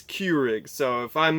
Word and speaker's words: Keurig: cue rigs I believe it's not Krueger's it's Keurig so if I'm mispronouncing